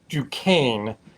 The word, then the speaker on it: Duquesne: so this this is the duquesne or if you're pronouncing it appropriately is ducane um yeah so this